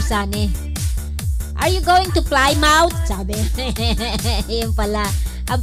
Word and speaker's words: Plymouth: Sabi ni Pastor Sani, are you going to Plymouth? Sabi. Yung pala. Ang pronunciation, Plymouth.